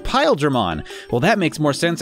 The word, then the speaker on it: Paildramon: wrong am i yeah there are actual Japanese pronunciation would imply that their name is pronounced in English pile German well that makes more